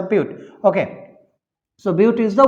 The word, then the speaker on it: but: one root butte right we write as a but but we pronounce it as a beaut okay so beauty is